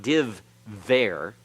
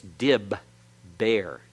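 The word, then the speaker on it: דִּבֶּר: were both dog Isha's it's not div there it's Dib bear if you want to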